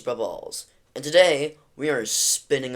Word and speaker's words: BruballZ: Hello everybody, my name is BruballZ, now pronounced as Brubballs, and today we are spinning a wheel.